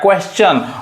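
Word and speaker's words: question: देखिए जैसे क्वेश्चन, अब यहाँ पे क्वेश्चन में जो TION क्या पढ़ रहा है, च पढ़ रहा है, क्वेश्चन।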